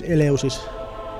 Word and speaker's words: Eleusis: Anyway, I'm gonna do the Finnish pronunciation of this Eleusis.